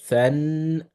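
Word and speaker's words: ثً: So the tha will be than, than. So this is gonna be than, right?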